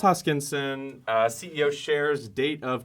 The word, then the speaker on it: Hoskinson: no questions okay cool charles uh hoskin hoskinson oh gosh i just butchered that yeah charles hoskinson uh ceo shares date